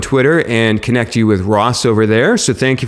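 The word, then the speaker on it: Rozek: Definitely go back and listen to episode five with, who I'm sorry I butchered your name, I think on the the actual episode last week, but it's Ros of local Local Visibility System.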